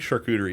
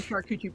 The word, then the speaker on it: charcuterie: looks it upsets me that some people don't pronounce that correctly because i think charcuterie is a fantastic word sure cooter is a fantastic word i just call it a sharkuchi board because i find it funny yes um